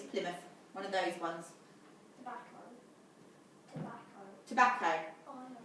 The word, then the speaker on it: Plymouth: It looks like Plymouth, you're right, it's spelled Plymouth, but it's Plymouth.